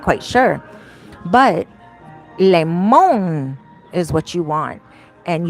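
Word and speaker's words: limón: It's called limon. I know it looks like lime, right? But it's pronounced limon. Limon.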